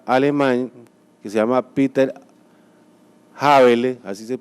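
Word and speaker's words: Häberle: un gran constitucionalista alemán que se llama peter habeler así se pronuncia en alemán se escribe en español a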